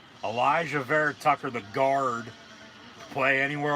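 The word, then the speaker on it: Alijah Vera-Tucker: they take Elijah verit Tucker that's how you pronounce Elijah ver Tucker the guard to play anywhere on the offensive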